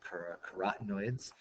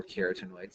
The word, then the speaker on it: carotenoids: There's also things called car corotenoids um or keratenoids depending on how you want to pronounce it.